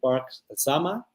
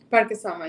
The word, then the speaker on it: Parque Sama: Maybe Park Sama. Parque Sama, yes.